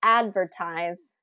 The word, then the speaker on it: advertise: So for example, advertise has first syllable stress because I stress that first part of the word.